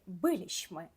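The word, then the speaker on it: byliśmy: додаємо закінчення ліщми ми биліщми ми були ви закінчення ліщ ви биліще ви були зверніть увагу коли в нас виступають закінчення ліщми і ліще наголос падає на третій склад з кінця займенник оні вони тут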